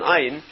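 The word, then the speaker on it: עין: Ayin is pronounced. Anybody who speaks Hebrew correctly, you can hear the ayin. It's one of the guttural letters. It's not a silent letter.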